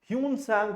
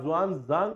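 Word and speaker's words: Xuanzang: जवान जांग कौन है जिन्हे कुछ समय पहले तक हम ह्यून संग प्रोनाउंस करते थे ठीक है या बोलते थे अब उनके नाम को ऐसे लिखा जाता है एक बात ध्यान रखना from now onward this spelling will be यूज फॉर यून सांग जिसे आप जवान जांग कहेंगे ना कि य सांग कहेंगे ठीक है तो उन्होंने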